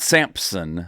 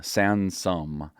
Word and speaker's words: Sansom: Not Samson, Sansom. Yep, that's the opposite of everybody else that's named this way.